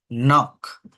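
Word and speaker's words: knock: উচ্চারণ হচ্ছে নলিজ নলেজ না নলিজ নাইট নিট নক নাইফ ওকে তাহলে কে এন থাকলে কে সাইলেন্ট থাকে এন দিয়ে উচ্চারণটা শুরু হয় ডবলিউ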